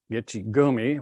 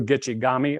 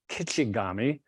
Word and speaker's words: Gichigami: Wordsworth Longfellow In 1855 he coined that phrase gichigumi it was a misinterpretation of the Ojibwa pronunciations which are at the bottom they have two gichigami or kichigami and as you travel